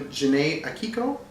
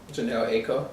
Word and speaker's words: Janelle Aiko: Best rap song, Calibration, Common, featuring Janae Akiko. That's how you say her name? Janelle Aiko.